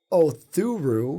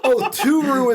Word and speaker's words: Oturu: 25, Daniel Othuru. No, there's no H. See, that's why I keep screwing up. There's no H. Oturu.